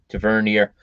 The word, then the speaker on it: Tavernier: back james uh taverner tavernier uh i believe is how they pronounce it i've always pronounced it tavernier but i hear them saying tavern or to vernier um connor goldson calvin